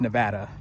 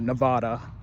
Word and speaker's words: Nevada: And that's how you say it. It's Nevada, not Nevada. Okay?